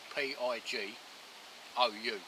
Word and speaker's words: Pigou: It's spelt P-I-G-O-U.